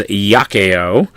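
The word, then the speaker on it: iaceo: When it is a consonant, it is pronounced y, almost like a Y in English. So that word there is yakeo.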